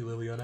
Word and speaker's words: Liliana: name has three syllables actually liliana it's four stable god all right um